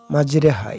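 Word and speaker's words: مجراها: দেখুন আসছি এইতো বিসমিল্লাহি মাজরেহা বিসমিল্লাহি মাজরেহা ও মুরসাহা রিহা হবে না মাজরেহা দেখুন একটা র উপরে একটা উল্টা মিমের মত চিহ্ন আছে ওটাই হল ইমাম চিহ্ন মাজরিহা মাজরেহা মাজহা হবে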